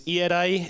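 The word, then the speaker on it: Ierae: security by this is a little difficult to pronounce in English but it's ear ERI it's iadai and Japanese a little bit easier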